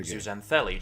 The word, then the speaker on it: zooxanthellae: It just sounded like Zootopia, but I said the exact same thing he said.